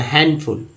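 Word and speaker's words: handful: बोला हैं, handsome handsome, हैंडफुल है तो हैंडफुल, ठीक है डी को साइलेंट कर देना हैंडफुल, हैंडफुल।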